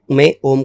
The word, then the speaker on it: ओम: इसके अलावा अगर आप मेरे से पूछते हैं कि ओम का सही उच्चारण क्या है? तो उसको तीन हिस्से में बांट सकते हैं। अ ओ म ठीक है?